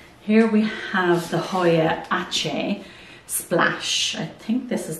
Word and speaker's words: Aceh: Here we have the Hoya Aceh Splash.